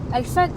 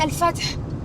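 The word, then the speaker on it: Al-Fath: Al fat. C'est pas J'ai pas la meilleure prononciation. Même moi qui parle arabe. Je Bah c'est Alfat je pense c'est Al Fath.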